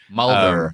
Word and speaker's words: Mulder: Because I always drop the R at the end. It's Mulder. Mulder.